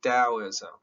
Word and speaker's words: Taoism: today's lecture is on taoism now i know there's a big t on here but it's pronounced d taoism now this is lao